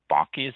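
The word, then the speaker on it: bocce: the side by side bakis that's how it's pronounced v-o-c-c-e bucky ball cords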